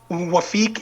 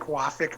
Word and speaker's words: Wafik: what's the correct pronunciation wafeek is the egyptian way uh i like waffik more for sure on my like just my own um but yeah the first